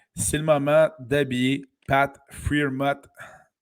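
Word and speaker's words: Freiermuth: le moment d'habiller Pat Freermuth. J'ai-tu pas pire? C'est Farmot.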